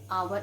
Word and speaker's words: hour: i met him an hour ago we never say i met him and however we say ha hour it is silent here then children the girl